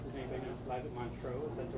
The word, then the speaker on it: Montreux: Live at Montreux. Is that the right way to say it? Not sure. Montreux.